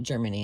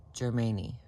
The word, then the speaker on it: Germani: It is not Germany. I'm not just saying it wrong. It is Germani.